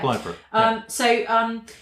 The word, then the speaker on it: Blythburgh: So in Suffolk, just over the border in Bungay, and also Blythburgh. Is that how you pronounce it? Blythburgh? Yeah. Blythburgh.